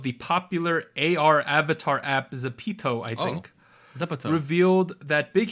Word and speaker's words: ZEPETO: It's like the guy from Pinocchio. Zepeto.